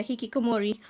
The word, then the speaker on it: hikikomori: to through the hikikomori yeah yeah yeah you pronounce it right yeah hikikomori okay right so uh that comment that i